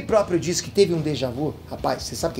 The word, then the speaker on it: déjà vu: Déjà vu, pra quem não sabe, é termo francês tem que falar assim.